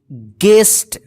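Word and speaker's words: guest: पे देखिए आप गेस्ट जी यू ई एस टी गेस्ट देखिए य पे जी के जस्ट बाद क्या है यू है तो यह जो है ना यू जो है साइलेंट रहेगा ठीक है ना जहां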